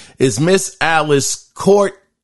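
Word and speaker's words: Coulthard: Once again, her name is Miss Alice Courthard. It's spelled C-O-U-L-T, Hard, Courthard.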